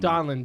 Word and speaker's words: Donlon: do you say the last name again donlin Jake demilio and donlins on the Pod